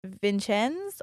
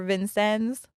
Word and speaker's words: Vincennes: were going to Vince Vincenz or Vincennes Indiana I looked up the French way to say that but this is America so they probably butchered it but that's where their